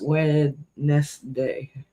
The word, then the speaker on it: Wednesday: Wednesday. You know? That one always throws me off. Fuck, Yeah. where's that N go?